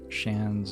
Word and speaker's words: Shans: The pronunciation of Shans is the same as Shans, like chance, but with a sh at the start.